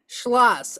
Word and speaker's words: Schloss: slos is it I how do you say your last name it's a hard one uh schas schlass okay schlass it's but it's a lot of it's a lot of shushes like schlass yeah okay interesting yeah